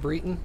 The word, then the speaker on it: Breton: you dead or alive nope you're alive it's pronounced breton cool noted what's it britain it's a race in skyrim breaton rioton okay